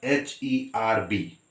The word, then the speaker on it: herb: say earth all right it is spelled as h e r b but it is read as herb all right a vowel